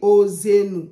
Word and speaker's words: Hoseenou: Normalement, on doit dire Ossenu.